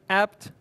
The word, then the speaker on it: apt: could you call it you could spell it apt you could just pronounce it as the word apt but it's also confusing